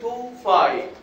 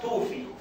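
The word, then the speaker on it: tophi: وكمان under the skin فتعمل توفاي، وما تنطقها توفي.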